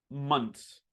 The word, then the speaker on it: months: So I pronounce this word like this: months. Months. This is the cheat code, okay?